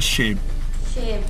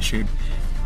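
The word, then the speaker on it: সেব: आ रहा हूँ एप्पल्स, उसको ये सेब नहीं इनको बोलेंगे शेब, SHAIB शेब।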